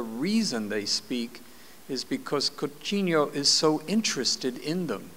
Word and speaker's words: Coutinho: Coutinho.